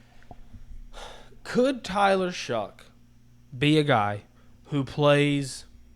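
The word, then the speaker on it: Shough: We were saying saying Shoff, I think, last episode. I don't know. I All I said was we don't know how to say his name. That was our take. We don't know how to say the guy's name. Yeah. Tyler Shuck is officially, I think, the way it's supposed to be pronounced.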